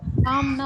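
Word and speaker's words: palm: இன்னொன்னு வந்து பனைமரம் பனைமரம் இத வந்து பாம்னு தான் படிக்கணும் பிஏ எல் எம் ல எல் வந்து சைலென்ட் எங்கயோ ஆடியோ டிஸ்டர்பன்ஸ் இருக்குது நீங்க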